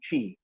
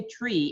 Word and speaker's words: Twi: not relegating the other languages to the background, but each and everybody or most of the people in Ghana understand Twi.